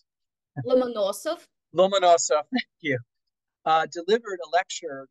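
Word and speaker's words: Ломоносов: Now, on September 6, 1757, the renowned Russian polymath, Mikhail Lomonosov, what is it, Anastasia, how do you pronounce it? Lomonosov, thank you, delivered a lecture to the Russian Academy of Sciences, published the St.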